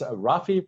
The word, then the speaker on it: Rafi: you are and what you do sure it's rafy Prince nwy uh took me until like 10